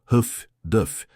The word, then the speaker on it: HFDF: Terceiro, o aprimorado radiogoniômetro de alta frequência HFDF pronunciado Huff Duff permite que as escoltas de comboio triangulem as transmissões de rádio dos submarinos.